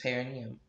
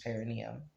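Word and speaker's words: perineum: He's supported by the palm of Clark's hand, digging into his paranium, and the other hand balancing him by the throat. Hold on. Did I pronounce that word correctly?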